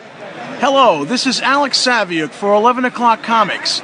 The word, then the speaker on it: Saviuk: Hello, this is Alex Saviuk for 11 O'Clock Comics, and that Saviuk rhymes with book.